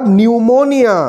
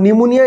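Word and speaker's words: pneumonia: খুব একটু নতুন ধরনের পি দিয়ে শুরু এবং পি টা কিন্তু সাইলেন্ট পি সাইকোলজি স্পেলিং এ যেমন পি সাইলেন্ট থাকে নিউমোনিয়া স্পেলিং এও কিন্তু পি হচ্ছে সাইলেন্ট স্পেলিংটা তোমরা আন্ডারলাইন করে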